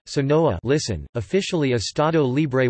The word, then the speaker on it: Sonora: Sonora, Spanish pronunciation, Sonoa, listen, officially Estado Libre y Soberano de Sonora,